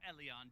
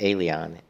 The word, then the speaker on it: Elyon: remember the path through the mana wall into eleon depends on you the investigation team yeah and it's actually pronounced el elyon elian like el eon not eleon not alien eleon we're finally off to the mana wall